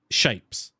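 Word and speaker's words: shapez: Shapes. And like, it's shapes, but spelt with a Z on the end.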